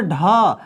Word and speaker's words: ढ़: ड और ढ में नीचे एक बिंदु दिया जाता है, और इस बिंदु के कारण इनका उच्चारण बदल जाता है। अब हम इनको क्या पढ़ते हैं? इनको ड़ और ढ़ पढ़ते हैं।